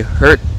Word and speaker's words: hurt: là mặc dù là khi mà đọc riêng rẽ, phát âm riêng rẽ thì hurt và heard khác nhau về độ dài của nguyên âm.